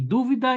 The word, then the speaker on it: dúvida: Olha, eu coloquei dúvida e duvida. Dúvida é substantivo e duvida é verbo, né? E além disso, tem uma variação na sílaba tônica.